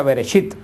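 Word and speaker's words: בראשית: Por eso el libro de Génesis en hebreo se pronuncia Bereshit, que es la primera palabra que sale de la revelación de Dios, que quiere decir en el principio.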